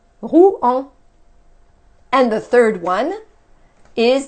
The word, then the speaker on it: Rouen: The second one is Rouen. Now, OU is OU in French. En is one, it's a sound from the first family right here. En. Okay? So we have Rouen. Rouen. Rouen.